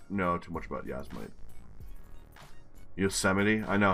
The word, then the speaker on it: Yosemite: Yasmite, alright. And then Mammoth Pool. Yasmite's California, isn't it? Fuck. I actually don't know too much about Yasmite. Yosemite?